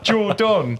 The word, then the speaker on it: Jordon: So my name is Jordan with an O. Usually it's spelled with an A.